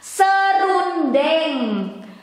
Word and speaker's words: serundeng: In Indonesian, it is serundeng, serundeng, or casual or informal daily conversation, we don't pronounce the becomes, because it becomes two syllables instead of three.